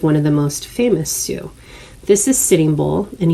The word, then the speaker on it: Sioux: i wanted to make sure that i pronounced this particular word for you because a lot of times it's mispronounced it's pronounced sue almost like it's the female name s-u-e a su is a